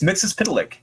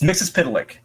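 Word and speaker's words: Mxyzptlk: pronounce Mr mitell Plick it's Mr mix it's mix's p it's MIT melck it's mix's pck oh maybe that's how you say it backwards that is not how you pronounce melck I'm fairly certain I'm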